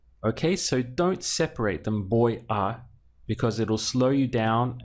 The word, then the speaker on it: voy a: And we say it all as one word. Voy a. Okay, so don't separate them, voy a, because it'll slow you down and it'll also sound strange.